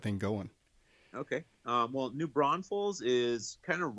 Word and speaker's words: Braunfels: Braunfels.